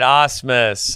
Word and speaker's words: Osmus: see, you said it right. Osmus. That's how it is, everybody.